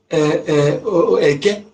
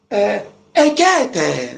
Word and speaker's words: Eke: and some person said, oh, Ekete, not Eke, it's Ekete, and Ekete. Why your father name it Eke? Then the foreigner come and tell you they cannot pronounce Eke, that is Ekete.